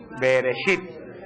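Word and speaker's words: בְּרֵאשִׁית: principio Cómo es pero Cómo se dice en hebreo beresit beresit en el principio creó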